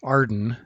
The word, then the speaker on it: AREDN: data network which is often pronounced arden based on the acronym made from its first letters arden provides a way